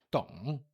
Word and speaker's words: 懂: 我 terceiro tom, 不 quarto tom, 懂 terceiro tom. 我不懂，我不懂. E o D, 懂, é bem suave, é quase um T em português.